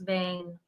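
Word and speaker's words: Wang: a place called Vang, spelled with a W, but pronounced Vang, Austria.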